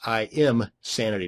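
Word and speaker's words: Imsanity: and another one is in sanity that's IM sanity not insanity both of these once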